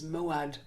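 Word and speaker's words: mo'ad: place an appointed place an appointed meeting is moad that's spelled m o apostrophe a d and if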